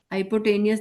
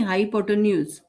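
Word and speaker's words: hypotenuse: हाइपोटेनियस नहीं, हाइपोटेन्यूज. हाइपोटेन्यूज. हाइपोटेनियस. हाइपोटेन्यूज. ठीक है, तो AC क्या है यहाँ पर? AC इसका क्या है? Sorry, CL. CL क्या है यहाँ पर? हाइपोटेन्यूज.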